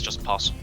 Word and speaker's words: opossum: Like, it's spelled like that, but it's just possum.